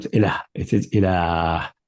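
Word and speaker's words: إله: pronounced, it is not ilah, it is ilah. So after the Lam there is an alif, but that has been dropped in the writing, ilah.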